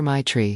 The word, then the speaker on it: Matrae: She laughed and told me, "Everyone just calls her my tree because that's basically how you pronounce it."